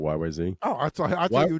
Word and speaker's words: YYZ: Because it's really, and it has nothing to do with a language, but if you do it like the air traffic control, it's YYZ.